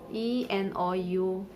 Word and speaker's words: enough: as kaf l-a-u-d-h love e-n-o-u-g-h it is pronounced s enough so g its sounds as f and the next combination